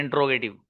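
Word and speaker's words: interrogative: The correct pronunciation of this word is इंटेरोगेटिव।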